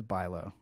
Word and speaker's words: Bialo: them how you actually you pronounce my name like boo so no one will ever get that right by reading it there like bio or something um it's Boo the a the a is silent uh it's what people